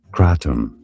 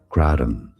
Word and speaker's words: kratom: In British English, it is said as kratom. Kratom. In American English, however, it is normally pronounced as kratom.